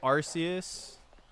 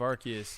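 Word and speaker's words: Arceus: If you say Arus instead of Archus, you've you've got a lot to think about.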